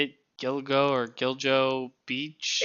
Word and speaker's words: Gilgo Beach: You guys put a lot of this, like, I don't know how you say it, Gilgo or Giljo Beach. It's fucking... Gilgo Beach.